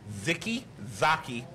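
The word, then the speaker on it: Zicke Zacke: goddamn times no no it is a k not a g how do you pronounce it oh so you corrected me which means you got a CH it is ziki Zaki ziki Zaki Hoy Hoy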